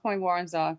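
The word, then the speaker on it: Point Woronzof: break point point yeah i believe that's how it's pronounced point warren's off and that's an anchorage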